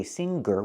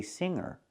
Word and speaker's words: singer: we do example with the word singer there's no Gus sound we don't say singer we say singer but with the word